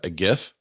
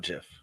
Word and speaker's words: GIF: I actually like the job that Inman did on the header because they use a GIF, which is the proper way to say GIF. It's not GIF.